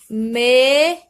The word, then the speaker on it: mesa: Outro exemplo, a palavra mesa está entre duas vogais, a vogal A e a vogal E. Então, o S ele fica com o som de Z ao pronunciar. Mesa.